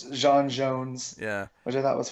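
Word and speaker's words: J'onn J'onzz: the end we get the correct pronunciation of his Martian name which is the soft J yeah but butch is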